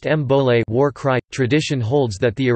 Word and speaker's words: Bole: It was replaced in 2012 with the new Bowl, pronounced Mbole, war cry.